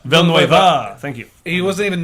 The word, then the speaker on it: Villeneuve: Villanueva. Villeneuve.